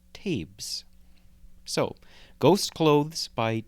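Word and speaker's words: Taibhse: one word in quotes it's t-a-i-b-h-s-e I think it's pronounced tapes so ghost clothes by tabes the fact that ghosts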